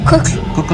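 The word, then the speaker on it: Kukl: play in cuckoo what's the how do you pronounce it yeah cook and then the sugar cubes which was more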